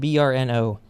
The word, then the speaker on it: BRNO: It's spelled BRNO, so I guess you say it BRNO.